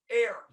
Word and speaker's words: heir: Is it heir apparent or hair apparent? Air. Air. So the H is silent? Like air.